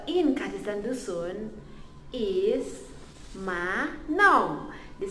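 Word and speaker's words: manom: So in Kadaz and Dusun is Ma No.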